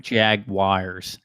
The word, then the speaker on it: Jaguars: I don't know why every time I say Jaguars, it just sounds like I'm saying it with a W. Right. Jaguars.